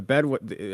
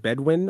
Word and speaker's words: Bedouin: But then the Bedouin, how do you pronounce it? Bedouin or Bedouin. Bedouin? Yeah, Bedouin or both is fine.